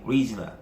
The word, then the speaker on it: original: 자, 오리지널의 강세가 리에 있습니다. 리에 있으니까 리를 강하게 읽다 보면 앞에 오가 안 들리겠죠. 그래서 발음이 거의 original, 거의 빨리 발음하다 보면요, original.